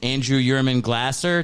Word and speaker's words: Andrew Yurman Glaser: We have Broad City's Andrew Yurman Glaser.